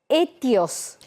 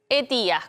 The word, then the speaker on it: ETIAS: Bueno, vamos a empezar a escuchar hablar de una palabra que se llama etios. Etías, correcto. Etía, ahí está, ahí lo Etías.